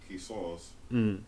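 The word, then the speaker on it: قصاص: But it's pronounced Qisas. Qisas, yeah, because that's the letter Sod. So the alif is going to be heavy. Sod. Qisas. Had it been a scene, then it would be Qisas.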